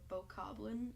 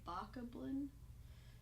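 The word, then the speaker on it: Bokoblin: Bach of one or both Goblin as most people pronounce it but I prefer to say baka Blin because it doesn't sound right to me to say bow Koplin but you can pronounce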